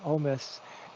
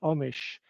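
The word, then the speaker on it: Omiš: So, um, the decision mentions this, um, city named Omis in Croatia. It's actually pronounced Omish, and I've been there.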